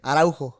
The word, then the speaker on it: Araujo: Araujo.